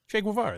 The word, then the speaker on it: Che Guevara: Che Guevara.